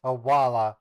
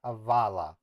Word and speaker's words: hawala: It's Hawala, not Havala. It's pronounced Hawala. Or yeah, Hawala. Or wait, maybe it is Hawala. Yeah, Hawala. Yeah, it's Hawala. They mix their V's and W's. That's why you think it's Havala.